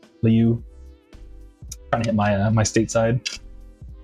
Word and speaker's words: Liu: I think it's Liu, like Leo or something. Liu.